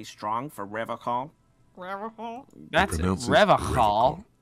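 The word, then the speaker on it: Revachol: That's Revocal. With yeah. a hard K, unlike other people. You said Revocal? I like to pronounce it the hard way. The old way.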